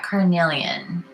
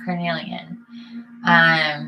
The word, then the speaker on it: carnelian: It's spelled C-A-R. I was like, oh, it's like carne. You do? Okay, yeah, carnelian. C-A-R-N-E-L-I-A-N. Right.